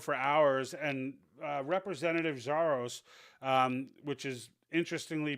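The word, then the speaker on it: Xiarhos: these guys drove for hours and uh representative zaros um which is interestingly pronounced uh xia spelled I mean xia r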